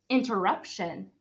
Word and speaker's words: interruption: with the T and the T actually makes the sh sound in this part so it will sound like this Shin we pronounce this word interrup Interruption this word is a